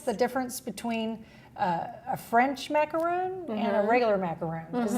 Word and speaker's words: macaron: difference between a French macaroon and a regular macaroon? Is there a difference? There is definitely a difference. The French pronounce it macaron, but most of us still say macaroon over here.